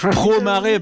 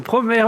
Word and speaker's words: Promare: Il faut dire promère. Hein. Ah oui, putain, c'est vrai. Pro-marée, bordel de fion. Non, c'est promère, même en japonais, ils disent. Promère.